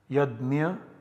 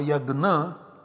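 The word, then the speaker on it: yajña: Although it is pronounced in different ways in modern India, in different places differently. Yajna in Maharashtra, yajna in some other parts, or yagna in some other parts. Then we have another example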